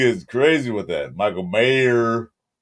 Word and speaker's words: Mayer: Mayor, there's no S.